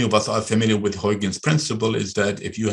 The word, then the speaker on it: Huygens: i was told by the dutch that it's pronounced huygen huygen huygens principle so huygen was in my